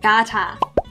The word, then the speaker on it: Qatar: I'm not sure how it's pronounced. Like Qatar.